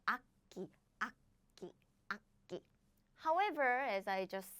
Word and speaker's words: 악기: What happens is this becomes 끼. So we don't pronounce it like 악기.